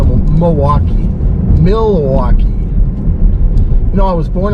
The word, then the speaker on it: Milwaukee: But we, you know, we've got some pretty interesting light shows in the greater Milwaukee, southeastern Wisconsin area.